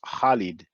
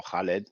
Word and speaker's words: Khalid: Khalid Abdul Muhammad in Arabic really Khalid is pronounced Khalid or Khaled depends on the pronunciation you have an equivalent